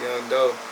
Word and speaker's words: Yun' Doe: changed my name to Young dope I spell it different too is why you in apostrophe d.o.e was pronounced young but you know I